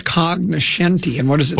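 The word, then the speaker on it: cognoscenti: Oh, it's cognenti. And what does it say? Well, it's spelled with a G, but the G is silent.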